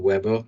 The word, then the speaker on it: Weber: And Max Weber or Weber, depending on how you want to pronounce it, in 1924 and 1947 kind of